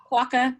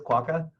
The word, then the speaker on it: quokka: that's a quota right is that how it's pronounced waka yeah waka is that what it is quokka okay I follow quokka hub on Instagram and